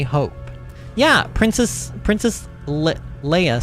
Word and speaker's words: Leia: yeah princess princess Le Leia said I I was I thought about maybe saying it wrong on purpose like Princess Leah says it like Princess